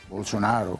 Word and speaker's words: Bolsonaro: ¿Cómo se pronuncia, por favor? Bolsonaro.